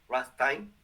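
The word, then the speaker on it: Ramstein: Está conectado con el escudo antimisiles desarrollado en Rota, está conectado con Rammstein, Rammstein, que es como se pronuncia en alemán, que yo creo que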